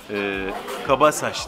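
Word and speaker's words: Cabaças: Kabasaş diye okunuyormuş ismi, bu arada onu da söyleyeyim.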